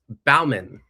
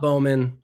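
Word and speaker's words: Baumann: Garrett Bauman, not Bauman, not Bowman.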